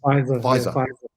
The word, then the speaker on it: Pfizer: If Pfizer, is that how you pronounce these things? Pfizer.